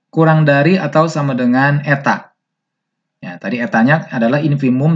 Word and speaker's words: eta: Jadi ini adalah dibacanya eta.